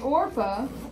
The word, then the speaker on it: Orpah: So if you think about it for a minute, though, Ruth and Orpah, I believe is how you pronounce her name, her daughter-in-laws were in the same boat.